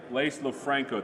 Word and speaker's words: Lofranco: It's beautiful here, it's lovely, it's sunny, and I have a special guest here with me, Lofranco.